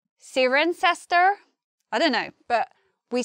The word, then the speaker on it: Cirencester: Next, we have probably the hardest one to pronounce in the whole lesson because it sounds very different to how we'd expect. And also, even if you know how to read IPA, it comes out as quite a long word. So let's try together. We say Cirencester. Cirencester.